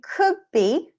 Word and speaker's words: could be: In could be, we don't pronounce the D.